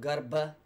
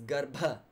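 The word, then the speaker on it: garbha: mother in that asana it's not Garba it's got paw you can hear that aerial explosion yeah good paw that's the aspiration on buh sound pinned asana it's not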